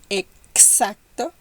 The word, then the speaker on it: exacto: Exposición, exacto. It's like in English, ex-husband, for example.